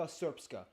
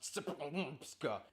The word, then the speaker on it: Srpska: Herzegovina is divided into the Federation of Bosnia and Herzegovina and the Republika Srpska. I know, it looks like it's pronounced Srpska.